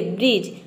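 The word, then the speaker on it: bridge: next letter है डी D letter कब silent रहता है तो देखिए यदि किसी वर्ड में डी के बाद अगर जी हो तो वहां पे डी लेटर जो है यह साइलेंट रहता है या फिर आप ये समझे कि डीजी इस तरह से याद इसको रख सकते हैं डीजी डीजी अगर एक साथ आ जाए डीजी डीजी तो वहां पे डी साइलेंट रहेगा देखिए ब्रिज ब्रिज में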